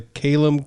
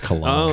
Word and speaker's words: Kalam: Repeatedly bring everything back to the Kalem cosmological argument until your opponent is exhausted, then hit them with second law of thermodynamic. Well, it's clear you're not a player here because you mispronounced Kalam. Kalem, Kalam.